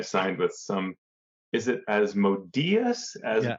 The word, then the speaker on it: Asmodeus: Is it Asmodeus? I'm not sure how you pronounce it. The accent's on the E.